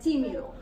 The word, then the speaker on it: tímido: Did you put the accent on the wrong eye? No, it's on the first one. Tímido.